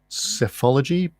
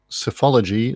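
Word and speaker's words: psephology: question 9 what is that's an interesting way to pronounce PS e ph o l OG y SEF ology pathology what is safe ology the study of what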